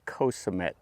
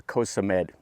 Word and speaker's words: Koh Samet: Today's video finds us over here on Koh Samet, or Koh Samet. They sometimes pronounce it with a D or a T. Anyway, we're going to take